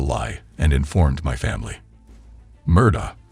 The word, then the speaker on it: Murdaugh: and informed my family Murda whose name is pronounced Murdoch rather than murder has denied murdering his